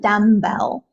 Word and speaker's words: dumbbell: then we have a dumbbell so just remember there's a silent B here it's not dumb Bell it's just dumb Bell okay even the word